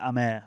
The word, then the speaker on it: Hamer: As I said before we came on, Dino thought that Hamer was Amer for a season. I will die on that hill. That the Brazilian pronunciation of Hamer is Amer, but you know, yeah, we'll go with whatever Gus wants.